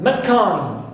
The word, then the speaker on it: mankind: Also I have mankind. Mankind. So I stress second element here also, which is kind, and not the first one, because these three represent, okay, the exceptions for this rule.